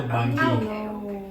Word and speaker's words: Bangui: No, she called the capital Bangui. Is that it? I don't know. Is that it? That's the correct pronunciation.